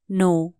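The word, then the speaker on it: know: जानो लाइ के भन्ने नो के एन O double you नो यहां के साइलेंट हु्छले कनो है ना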